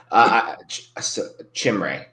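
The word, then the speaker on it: Chimere: I don't know how to pronounce that first name. Do you? Chimray.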